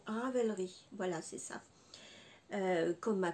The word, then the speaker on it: Ravelry: raver lit j'ai toujours un souci pour la prononciation Ravelry voilà c'est ça comme ma conseillé Christelle je